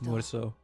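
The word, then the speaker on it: Meursault: I sometimes forget that his name's pronunciation is not more. It's more so.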